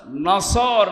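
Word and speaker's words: نصر: মানে ইগল পাখি এজন্য যারা এই সূরাটা পড়তে গিয়ে সওয়াদ না বলে সিন দিয়ে উচ্চারণ করেন আপনার কিন্তু নামাজ হবে না কারণ নামাজ ভাঙ্গার কারণ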